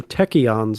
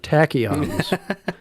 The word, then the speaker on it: tachyons: the episode happens where Rutherford calls them techians instead of tachyons so you should learn how to pronounce his tachyons that's what I have